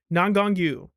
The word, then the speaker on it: Nangong Yu: So that is how you pronounce her name. I wasn't crazy. It was like Nangong Yu. I got it.